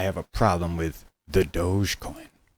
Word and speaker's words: Dogecoin: one what's up with the dogecoin or doggy coin or dog e coin or as they say it's pronounced doge coin anyway it's a dog